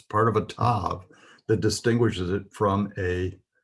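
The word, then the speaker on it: ת: This is the part of a tape that distinguishes it, or it's part of a tav that distinguishes it from a HETH. It is pronounced T as in toy.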